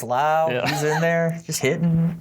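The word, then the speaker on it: Lowe: know you got Brandon Lau apparently his name's pronounced loud was in there he's hidden homer so yeah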